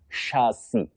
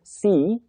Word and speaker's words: chassis: What we have is chassis, a chassis. That is CHASSIS, chassis, not chassis that we commonly hear around us.